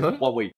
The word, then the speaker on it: Huawei: Huawei euh Huawei euh ça se non c'est vrai ça se prononce comme ça c'est Huawei ouais euh avec des activités